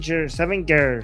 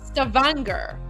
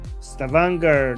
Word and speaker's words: Stavanger: Stanger. Seven. Norway. I think it's pronounced Stavanger. Stavanger.